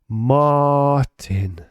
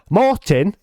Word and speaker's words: Martin: I feel like people in English, they don't have that R, you know, they just say Martin. They say it like, wait, hold on. They say it like Martin, don't they? Like, especially like British people, it's like Martin. But in Norway, it's more like Martin. It's so weird. That's the proper way to say it, by the way. You say Martin, not Martin.